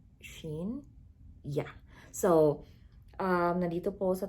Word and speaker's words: Shein: from a website called sheen or shane but i think it's pronounced as sheen yeah so um nadito